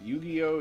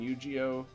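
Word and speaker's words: Yu-Gi-Oh!: gain that through these i've heard it pronounced both ways yu-gi-oh and eugeo that obviously even sounds different when my japanese friends pronounce it so i i just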